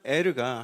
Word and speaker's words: 에르: 유다에게 아들이 셋이 있었는데 첫째 아들의 이름이 엘리였습니다. 히브리식 발음으로 에르.